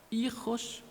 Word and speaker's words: hijos: Nuez de la lengua española, hijos y él. La H no se pronuncia.